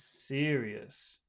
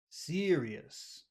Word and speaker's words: serious: serious serious serious so you've got two things in that word number one that ER that happens in your throat so uh should be longer but also uh it's it's the accented syllable so that's two reasons why it should be pretty long yes does that make